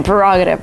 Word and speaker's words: prerogative: Brown sings it, and people started saying prerogative because my prerogative, because of the song. It's the way that I wanna live. It's my prerogative. But actually, the right way to pronounce this word is prerogative. This is my prerogative.